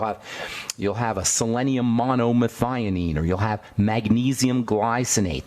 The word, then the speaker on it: monomethionine: picolinate or you'll have you'll have a selenium monomethionine or you'll have magnesium glycinate that's second word